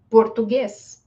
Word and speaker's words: português: Que outra palavra, por exemplo, português, né? Português também tem o som de E mesmo, né? Porque também ganhou já o acento aqui, então, português.